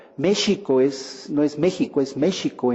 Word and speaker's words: México: ¿Por qué no es México, como se decía en el siglo XVI, como sherry, ¿no? Que es Xerez, ¿no? Esta bebida que se pronunciaba la X como SH. De ahí viene de que los españoles tradujeron en el siglo XVI la X como SH, que es como se pronuncia en náhuatl.